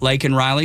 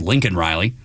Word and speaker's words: Laken Riley: Why Marjorie Taylor Greene wasn't arrested because she shouted out, say her name, talking about Laken Riley, who freaking Joe Biden called Lincoln Riley.